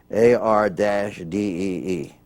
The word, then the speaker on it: Boyardee: And he wanted to make sure that when he arrived that everyone would pronounce it properly. So when he, on the can, he put it Boy-ARDEE.